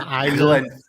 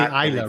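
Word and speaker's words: Islay: the green fridge the island glenn fittig and it's you see isla right isla yes you know what's a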